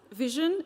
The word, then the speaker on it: VSHN: Vision is spelled as VSHN, but it's intended to be pronounced as what your eyes do.